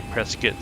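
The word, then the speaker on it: Prescott: is San Diego to presskit I know it's spelled Prescot but the local say presskit so let me print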